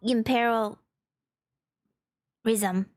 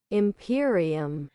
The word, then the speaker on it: Imperium: The agent of imperial rhythm. I just learned how to say this. Imperium.